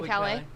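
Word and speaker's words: Caillat: Colby Calais. Yeah, Colby Kelly.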